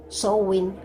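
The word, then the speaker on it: Samhain: comunidad pagana del mundo se pronuncia sowing a pesar de que se escribe samhein y significa fin del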